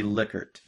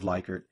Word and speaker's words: Likert: that but it's actually liquored so it's pronounced liquor instead of likert and it was developed